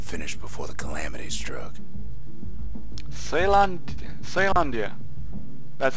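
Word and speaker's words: Caelondia: Ceylandia. That's how he pronounced it.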